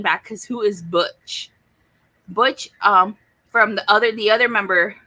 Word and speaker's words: Butch: Or and James was always mispronouncing his name, calling him Bonch. And he says, my name is Butch.